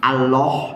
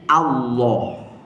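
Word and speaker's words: الله: bunyinya apa A jadi Allah ya kadang-kadang Ada Ustaz satu dua lah tapi enggak semua yang menyebutnya Allah Allah nah itu keliru Pak bukan O bukan o tapi a ya tapi kalau mau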